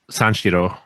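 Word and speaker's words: Sanshiro: Sanchiro.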